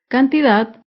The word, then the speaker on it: cantidad: sin tilde es la palabra cantidad cantidad se acentúa en la última sílaba pero no lleva tilde porque no termina ni en vocal ni en las consonantes n o s cantidad las palabras graves también